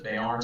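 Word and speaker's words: Björn: And for the Swedish people, it's BJO with a slash through it, RN. There is no E, so Bjorn. And that's more of a y sound. Yeah. Bjorn.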